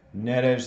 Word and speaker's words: Neres: I guess Neres is Brazilian, so it should be a S sound at the end.